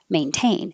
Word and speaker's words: maintain: of those can happen if the t is in the unstressed syllable if it's in the stress syllable we have to say it maintain and how do you